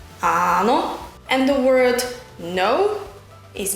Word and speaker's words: áno: The word yes is áno, áno. It's a long A at the beginning of the word, áno.